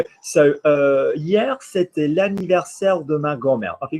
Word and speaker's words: anniversaire: So Stephanie, hier, c'était l'anniversaire de ma grand-mère. Versaire rhymes with grand-mère. Versaire de ma grand-mère.